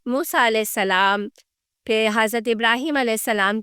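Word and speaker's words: Ibrahim: नामों का फर्क है हम इब्राहम कहते हैं वह इब्राहिम कहते हैं और यह कोई अलग नबी नहीं है यह उसी नबी के नाम को प्रोनाउंस करने का एक डिफरेंट तरीका का है जिसकी वजह से वह नाम ऐसे प्रोनाउंस किया जाता है अरबी में मगर कहानियां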